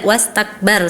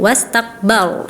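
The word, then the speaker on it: واستكبر: Huruf ra maaf, di surat Al-Mudaththir Ananda Salwa bacanya itu tipis padahal harusnya tebal kan ya. Summa adbara wastakbar. Tadi Ananda wastakbar saja, wastakbar harusnya ya. Harusnya dibaca tebal karena ra sukun atau waqaf sebelumnya berharokat fathah ya.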